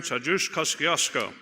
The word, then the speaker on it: Tadeusz Kosciuszko: The Committee on State, Federal Relations, and Veterans Affairs, to which is referred House Resolution 24, an act honoring Tadeusz Kosciuszko, and yes, that's the right pronunciation.